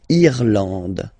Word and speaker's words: Irlande: Remember, this is E, and it should be pronounced like E. Irlande. Irlande. Okay, A-N, en, D, and final E, not pronounced. Irlande.